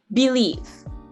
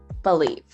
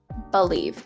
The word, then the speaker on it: believe: f uh believe believe now this is a sound that most indians tend to ignore we tend to go oh it's an e of course it's going to be pronounced we see that bubble sandwich and we go oh yes of course believe but no actually this sound is going to be pronounced believe believe this is something that